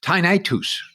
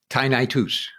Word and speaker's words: tinnitus: he assured me that the correct way to say that word is tinitus so i don't know whether people want to start saying it like that that's the way gus says tynitus or tonight either way